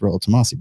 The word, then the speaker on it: Rollo Tomassi: michaela at least michaela has the balls to say my name right to say it's royal tomasi blah blah hafiz didn't